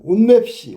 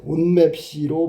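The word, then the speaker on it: 옷맵시: 온맵시. 온맵시. 온맵시. 온맵시로 발음되죠? 맞았지? 그러면요 중간 과정이 옷 맵 C였다가 온 맵 C 이렇게 바뀌지 그지?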